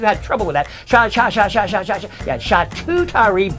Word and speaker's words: charcuterie: trouble with that yeah shot tutari board is the proper pronunciation if you saw the